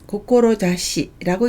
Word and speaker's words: 志: 훈독은 고꼬로자스, 고꼬로자시라고 읽습니다. 스가 나오면 고꼬로자스라고 해서 뜻을 세우다, 지향하다 라는 동사가 되고요. 아무것도 없으면 고꼬로자시라고 읽어서 뜻, 후이라는 뜻을 나타냅니다.